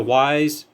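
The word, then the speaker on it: Wyze: do not get a Wise camera. I want to repeat, if you're getting a wireless camera, indoor or outdoor, from Wise, and how you spell it is W-Y-Z-E, do not get it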